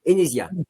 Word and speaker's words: Enesia: Jérémy Pilves, vous êtes responsable pédagogique chez Enesia, c'est ça? C'est comme ça qu'on prononce?